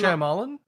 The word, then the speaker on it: Shyamalan: Night, I always say his name wrong. And that's Shyamalan?